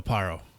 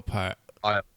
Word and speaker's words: Arpaio: Sheriff Joe Aparo. Aparo? I think that's how you say it. I know I'm slaughtering his name right now. Sheriff Joe Aparo. Yep. Aparo. There it is. Sheriff Joe Arpaio.